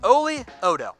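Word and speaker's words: Oli Udoh: It's Oli Odo.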